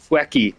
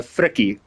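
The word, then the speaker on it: Frikkie: Facky. Yeah. No, no, no. Uh, Fricky. F R I K K I E. But yeah, my pronunciation screwed it up so much it kind of came out as wacky.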